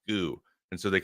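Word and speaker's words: 구: sheet and one day to pronounce the number nine in Korean is goo and so they called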